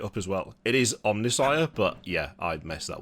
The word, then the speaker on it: Omnissiah: It is Omnissiah, but yeah, I messed that one up.